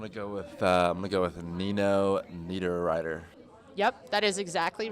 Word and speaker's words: Niederreiter: gonna go with we go with a Nino Niederreiter yep that is exactly right very second one